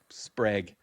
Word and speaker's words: Sprague: Sprague.